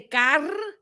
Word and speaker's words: Carmen: Roll the R's, but say Carmen. Like there's a G at the end, right?